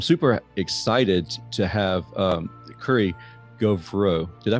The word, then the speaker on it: Gauvreau: I'm super excited to have Currie Gauvreau. Did I pronounce that right? Close enough. Gauvreau.